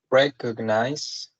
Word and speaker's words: recognize: So recognize has three syllables, and the stress is in the first one.